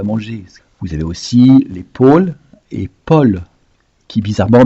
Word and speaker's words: Paul: Vous avez aussi les Paul et Paul, qui bizarrement, bien qu'ils le prénom s'écrivent AU, se prononce avec un O ouvert, un O, et non pas O.